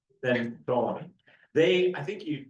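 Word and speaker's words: Ptolemy: Um, a dominion greater than once established his kingdom, he grew stronger than the tolamy than Tommy. They I think you the P is silent, right?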